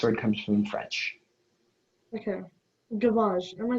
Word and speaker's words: gavage: Your word is gavage.